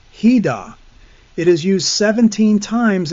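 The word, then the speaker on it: חידה: Now the phrase dark saying is just one word in Hebrew pronounced hidah.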